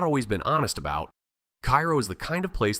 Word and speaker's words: Cairo: Cairo, Illinois, pronounced Cairo by everyone who lives there or has ever lived there, and don't let anyone tell you otherwise, sits at the exact